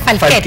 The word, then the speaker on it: Falchetti: Falchetti, se escribe Falchetti, pero se pronuncia Falchetti. Falchetti.